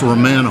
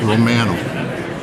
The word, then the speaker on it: Romano: Dominican so you spoken to Romano yet it's Romano Romo that's how in Canada that's how we pronounce it it's Romano um yeah I spoke to him yesterday um